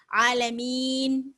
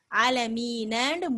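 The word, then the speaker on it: العالمين: இப்ப நம்ம இதை எப்படி நிறுத்தணும், ஆலமீன் அப்படின்னு நிறுத்தணும். ஆனா இங்க எப்படி இருக்கு, ஆலமீனன்னு முடியுது. ஆனா நம்ம இந்த ஹரக்காவை உச்சரிக்கல. நம்மளாம் இந்த இடத்துல எப்படி செய்யறோம், தற்காலிகமாக டெம்பரரியா ஒரு சுக்கூனை நம்மளே வச்சு ஆலமீன் அப்படின்னு நிறுத்துறோம்.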